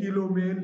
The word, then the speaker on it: coulomb: अब जो electric charge है आखिर हम उसको मेजर कैसे करेंगे, किलो में, लीटर में, मीटर में कैसे नापेंगे, तो उसके लिए एक यूनिट बनाया गया जिसको हम बोलते हैं कूलाम।